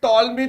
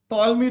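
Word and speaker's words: Ptolemy: इन ए होता है इसको बोलते हैं टॉलमी थ्योरम प साइलेंट है टॉलमी थ्योरम ऑलवेज इसको टिप्स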